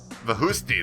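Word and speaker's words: Vakhushti: Vahusti, that's how you say it.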